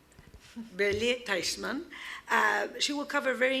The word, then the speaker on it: Bellier-Teichmann: Bellier, you have to help me with the French pronunciation. Yes, Bellier-Teichmann. Bellier-Teichmann.